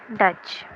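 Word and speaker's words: Dutch: next word क्या है डच consonant कौन-कौन से है इसके अंदर डी का साउंड आ रहा है डच च का साउंड आ रहा है इसमें टी क्या है साइलेंट है ठीक है डी का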